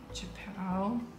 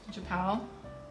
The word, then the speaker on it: Japão: Portuguese, Japão. Almost. Japão. Almost. Japão.